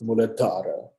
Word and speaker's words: Muladhara: Can you see that H there after the D? That means that the sound is exasperated a bit. So it's not Muladhara, it's not Muladhara, it's Muladhara.